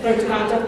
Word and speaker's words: Punta Cana: Punta Cana, thank you.